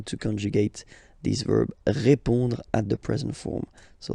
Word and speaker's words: répond: So, final D is not pronounced. You only have this on nasal sound at the end.